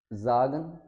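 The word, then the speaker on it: sagen: वाले या फिर वॉवल, कोई भी अगर एस के बाद आ जाए तो हम इसको हमेशा जी की साउंड से पढ़ेंगे या जे की साउंड में पढ़ेंगे हम, जैसे जा, फिर जे, जी, जो, जू, जागन, जोन, जुड।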